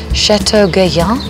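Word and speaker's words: Château Gaillard: go okay and and you pronounce it Chateau galya galya it took a year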